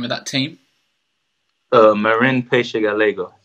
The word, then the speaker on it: Peixe Galego: Marin Peixe Galego. Peixe Galego, yeah, because it's spelled like Paix ELAG or something like that.